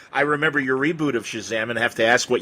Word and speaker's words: Shazam: 1953 I thought that captain Marvel's magic word I pronounced a chasm I never said Shazam interest even though now